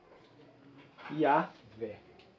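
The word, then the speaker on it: Yahweh: em algumas tradições religiosas, eles chamam assim. pronunciam assim. Yahvé. Eles pronunciam assim. E a versão Vulgata, nos passa esse nome. Javé. A versão Vulgata está nos passando Javé. Eu posso, então, eu tenho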